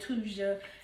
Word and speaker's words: Thuja: um I call it thusia occidentalis some people call it tuja and say the H is silent but whatever either way